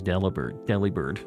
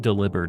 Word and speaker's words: Delibird: We need the, like, Super Santa Claus Delibird. Not delivered.